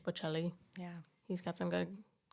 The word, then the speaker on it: Bocelli: Bocelli. Bocelli.